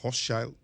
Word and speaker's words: Hochschild: Dos psicólogas norteamericanas que escribieron, Arlie Hochschild, o Hochschild, se pronuncia, y Ann Machung, se escribe Machung, por si lo van a buscar en Google, que se llama La Doble Jornada.